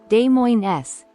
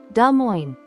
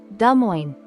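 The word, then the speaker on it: Des Moines: the mistake of saying de Mo s but there's a trick to this one the S is silent the proper way to say it is D Mo just two simple syllables D Mo it sounds cleaner and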